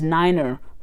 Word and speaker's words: niner: a slightly different pronunciation such as nine is niner four is four and the purpose of